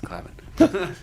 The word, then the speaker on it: Clavin: It's Clavin. He hates when people mispronounce his last name.